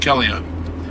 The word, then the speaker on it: Calliope: Calliope, I'm informed, is the way it's pronounced. But then again, I reckon it's Capalaba and I reckon it's Capalaba, so It's Capalaba. we're going to Calliope.